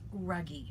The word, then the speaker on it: Ruggie: because which we said both of us said her last name wrong. It's Ruggie, Melissa Ruggie.